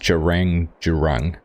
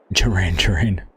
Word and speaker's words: Gerang: It's pronounced Gerang, as if it was spelled with J's and not G's. Ah, cool. Thanks for the heads up. Gerang.